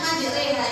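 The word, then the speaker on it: مجريها: Biasanya sering keliru kalau membaca, soalnya yang di dalam bacaan ini ada fathah berdiri. Jadi kan pasti bacanya majriha.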